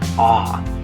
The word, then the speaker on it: a: Okay, so anyway, anytime you see this in Spanish, you're going to say ah.